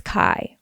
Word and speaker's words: Kai: My name is Kai, rhymes with Sky, and I have a somewhat short but doozy of a Mary Kay story for you.